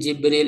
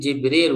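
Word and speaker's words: جبريل: Jadi bikasril jimi wa fatiha bila hamzah. ini ee cara pembacaan tadi ya yang saya sebut itu lebih lengkapnya dalam tafsir yang lebih panjang ya di sini diringkas. Jadi, Jibril itu bikasril jim dengan memfatahkan jim berarti Jibril wa fatiha dan ee apa?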